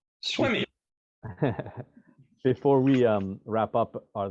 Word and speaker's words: Swimme: Swimme, it's spelled Swimme, like swim me, but swim. Swimme. Yeah. Swimmy.